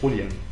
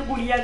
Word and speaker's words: Julian: né en Grèce et le Julian ça se prononce rouian non ça se prononce Julian par que je pensais qu'il était espagnol et en espagnol ça se prononce ça se prononçait rouian justement voilàendant c'est Julian solo